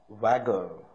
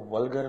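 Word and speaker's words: vulgar: Not wasting time in वैगर। इसमें जो कुछ लोग इसको व्गर पढ़ते हैं। यह व्गर नहीं है। वैगर सो it's pronunciation else silent है।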